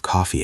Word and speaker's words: coffee: review the pronunciation of coffee again. It is such a common word, but the vowel sounds can be tricky for some learners. Oh, good point. It has that open O sound.